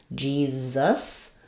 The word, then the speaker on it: Jesus: So we have the J sound. The E says E. This first S says the Z sound, Jesus. And then it's either an I or an and an S for the second So I'll write that like G, Zus, or Jesus.